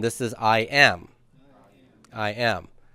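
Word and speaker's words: εἶ: And this is I am. I am. A is second singular, and it's, well, pronounced A.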